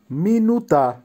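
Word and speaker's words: минута: মিনুতা, মিনুতার অর্থ হবে মিনিট, উচ্চারণ হবে মিনুতা।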